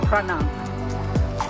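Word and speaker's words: Phra Nang: So it's pronounced Pranang. So Pranang Beach, but it's PH. So in Thailand, PH is still pronounced a P. It's not a silent P.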